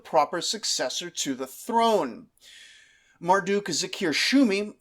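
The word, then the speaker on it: Marduk-zakir-shumi: successor to the throne Marduk Zakir shumi who I seem unable to stop mistyping and mispronouncing as Marduk Shakir Zumi is our hero here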